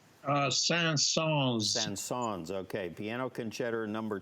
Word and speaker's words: Saint-Saëns: How do you pronounce the gentleman's last name? Saint-Saëns. Saint-Saëns.